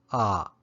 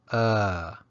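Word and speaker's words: အ: of the alphabet and when you recite the alphabet it's pronounced ah but when used as a particle the pronunciation changes to uh now this particle is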